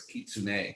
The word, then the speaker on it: kitsune: cool just uh to make sure i could pronounce it right i was curious kitsune so that's interesting too because i read a